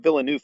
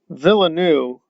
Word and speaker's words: Villeneuve: too seriously but um villanu okay all right i don't think you pronounce it like that but um could be wrong about that one too again i'm willing to be taught new things but i think it's villeneuve but there we are